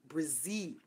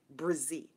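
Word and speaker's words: Brzee: It is Brizzy. Oh, Judy. It's spelled B-R-Z-E-E. Brizzy.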